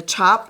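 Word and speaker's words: tjap: called is a chop a chop is spelled t-j-a-p-s in Indonesia and that's what this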